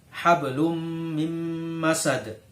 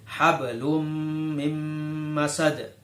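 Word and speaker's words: حبل من مسد: Contoh yang ketiga, hablum mim masad. Hablum mim masad. Kenapa disebut bacaan idgham bi gunnah? Karena di situ ada dumatain atau tanwin bertemu dengan huruf mim. Jadi cara membacanya hablum mim masad, ya.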